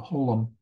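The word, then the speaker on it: חוֹלָם: The holom is a long O sound.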